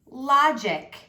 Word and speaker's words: logic: The G still has an I after it, so the G is still going to say J. Lodge. Ick. Logic.